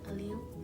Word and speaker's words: allele: Am I pronouncing that right? Yeah. Allele?